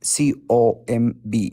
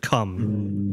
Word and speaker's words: comb: Maybe comb. No, that's how you pronounce it. Yeah. Okay. Yes, I know. That's a good word. Mistake. Yeah, that's a good word. It's actually a comb, not a cum.